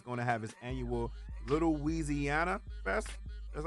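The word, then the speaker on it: Weezyana: Carter three he's gonna have his annual little wheezy Anna that's how you pronounce it in New Orleans yeah drinking that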